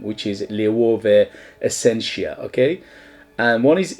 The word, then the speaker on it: LOEWE: Apparently you should the correct pronunciation is LOEWE, okay?